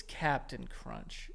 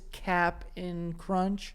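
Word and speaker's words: Cap'n Crunch: Bro, by the way, can we like It's Captain Crunch. I know it says Cap in Crunch. Oh. But who's pronouncing it? Nobody.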